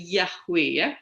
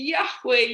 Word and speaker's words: Yahweh: jadi yhwh bacanya Bagaimana jadi banyak beberapa scholer orang-orang mencoba melafalkannya sebagai yahwe gitu Ya saya juga merata